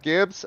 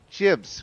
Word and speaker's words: gibs: he said it's pronounce jibs because it's short for giblets not Gibbs so I'm gonna have